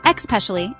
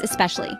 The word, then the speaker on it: especially: For example, learners often say, "especially," instead pronounce it as especially.